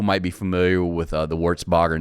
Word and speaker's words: Wertzbaugher: podcast uh today's guest Seth Feldman of uh warts Bogger did I pronounce it right yes sir warts Bogger Services warts Bogger services in West Liberty Iowa